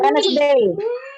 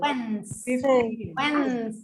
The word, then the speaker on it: Wednesday: Which of these days of the week has a silent letter? Wednesday. Wednesday. Very good. Now let's pronounce it again because I am listening to people not pronouncing it correctly. Wednesday. Wednesday. We totally forget the existence of Wednesday.